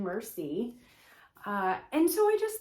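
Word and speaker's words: merci: flash cards so it says thank you in french on the front and then it has the word and the pronunciation mercy uh and so i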